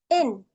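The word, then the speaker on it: ἐν: La primera palabra con espíritu suave se va a pronunciar en y la segunda palabra que tiene espíritu rudo se va a pronunciar gen.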